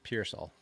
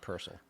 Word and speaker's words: Pearsall: So, well, one thing is you got to say his name right. It's Pearsall, not Purcell. Pearsall.